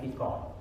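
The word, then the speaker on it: فقه: Fa, qaf, ha, ya, bukan fa, kaf, ha, bukan. Makanya sebetulnya dibacanya fikih, qaf ya. Kalau orang Malaysia, orang Melayu itu sering disebutnya fiqh. Pelajaran fiqh. Karena qaf bukan pakai k.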